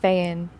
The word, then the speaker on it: Feyen: I think you say Feyen is how you're supposed to pronounce her surname. People struggle with it, but it's just 5 Jennie letters. Feyen.